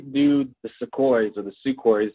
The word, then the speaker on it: Sukhoi: to ask why do the Sukhoi soar the Sukhoi is how you say them why do they